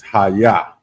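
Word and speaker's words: hayah: Like I'm saying, the next word is Haya, and that's it's spelled Ahyah, and it means to become or to be.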